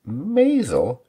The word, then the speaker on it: Maisel: dramatic moments who knows it's The Marvelous Mrs maisel the name I love to mispronounce did I get it right this time